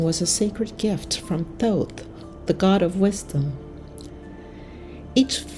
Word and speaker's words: Thoth: Thoth, I hope I'm pronouncing that right. It's Thoth.